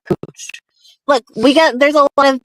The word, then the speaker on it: Couch: It's not Cooch. I don't know. If Barbie hears it, she'll know what I'm talking about. Look it up. Just look it up. Portland. Cooch Street. Couch. Oh, spelled couch, pronounced cooch.